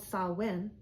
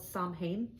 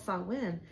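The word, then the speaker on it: Samhain: pagan traditions of it, it's called sawin. It looks like it's spelled sain. That's how it looks to me, but it's actually called sawin.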